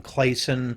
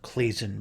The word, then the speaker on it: Claisen: I usually go with the pronunciation clon, but I've heard people call it clazin before as well.